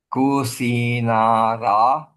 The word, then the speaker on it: Kusinara: You see, let me remind you, I always pronounce the last vowel A without the A. Kusinara. Not Kusinara. So silent A, Kusinara.